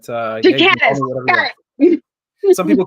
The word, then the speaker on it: Ghikadis: So yeah, I'm Ghikadis. That's how you pronounce it, but Ghikadis.